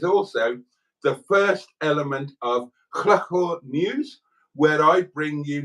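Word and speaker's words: Llwchwr: but it is also the first element of Chlachor News, where I bring you news from Chlachor, which is spelled L-L-W-C-H-W-R.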